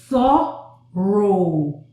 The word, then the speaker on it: thorough: Okay, here we have the TH, O, This is the sound. And then again, this is the O sound, the long O. So thorough.